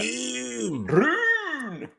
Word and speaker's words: Rune: You have to say it like that. Rune.